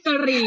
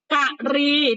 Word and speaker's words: กรี: ว่า ดี นะ จ๊ะ ไม่ ใช่ กะหรี่ นะ จ๊ะ ฟัง แค่ นี้ นะ จ๊ะ กะรี ที่ แปล ว่า อะไร